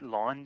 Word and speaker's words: ln: So it's ln, we pronounce it ln like L-A-W-N.